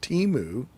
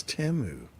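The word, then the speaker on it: Temu: It's not Teimu, it's Teu. Dear Lord, it just sounds wrong, doesn't it? Like Yeah, I can't call it Teu.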